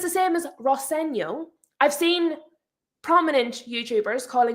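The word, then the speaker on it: Rosenior: And he responds, "Well, my dad says Roseno."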